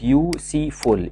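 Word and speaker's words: useful: ساكنه واحده كمان برض كلمه يو سي فول يو سي فول يعني مفيد بداه باليو بس احنا ننطقها واي بنقول يو يو يو نفس نطق كلمه يو اللي هي انت يوسفل وبالتالي هنا هنقول اي يوسفل كلمه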